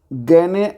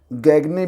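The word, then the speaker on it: Gagné: BRICS classification यहां पर गने को कई लोग गगने भी बोलते हैं तो आप अपनी सुविधा के अनुसार यहां पर उच्चारण कर सकते हैं गगने एंड ब्रिक्स बोलिए या फिर गने एंड ब्रिक्स बोलिए ठीक है ये आप पर है तो यहां पर जो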